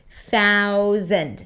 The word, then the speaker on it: thousand: Now, that might be confusing with the Z sound in the middle. And yes, it's a Z sound even though it's spelled with an S. Thousand.